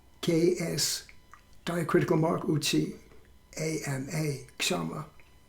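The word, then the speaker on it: Kṣamā: Then the next one is called Ks'ama, K-S, diacritical mark, Uchi, A-M-A, Ks'ama. Or it could be pronounced Kama, also in different pronunciations of Sanskrit.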